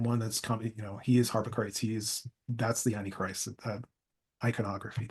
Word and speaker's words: Harpocrates: Harpocrates.